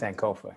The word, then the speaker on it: Sankofa: pronouncing that correctly cs sankofa yes tell us about the album and what the title means uh well first of all the title sankofa it's a ghanaian term uh meaning uh literally